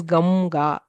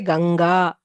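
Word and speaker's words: गङ्गा: So what happens is even in Hindi, pronunciation is nobody says Ganga. They say Ganga, where pronunciation is that of Ngakara.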